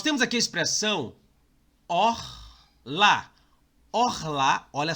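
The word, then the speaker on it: אָכְלָה: Orrelá. Não, é orlá.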